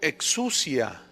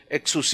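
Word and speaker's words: ἐξουσία: potestades la palabra potestades viene del griego exua con x exus más bien se pronuncia exus y exus que se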